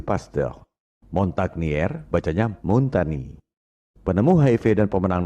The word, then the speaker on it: Pasteur: asal Prancis pastel Institute Kalau bahasa Prancis ucapan dan tulisannya memang beda bombardier bacanya bombaki Louis Pasteur bacanya Luwi pastel Montage penemu HIV dan